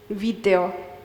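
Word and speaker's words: βίντεο: So in order to have an actual D sound like you're used to in English, they're going to spell it with the NT. Video. And also pronounce it like that sometimes, video.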